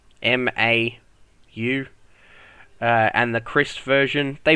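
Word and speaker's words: Mau: Mao, I think is how you pronounce it. Mao, M-A-U.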